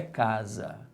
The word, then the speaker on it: casa: É casar ou é casa? É casa. Então a sílaba tônica é a penúltima.